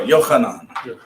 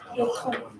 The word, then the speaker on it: Yochanan: John's name in Hebrew is pronounced how? Yonatan? Because Oh, Yochanan. Yochanan. Yochanan. Is Yeah. the CH in there? That CH is Yochanan. They don't do cha, right?